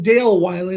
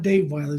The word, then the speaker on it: Dale Wylie: mispronounced your name and i am dale wylie not dave violet so we did it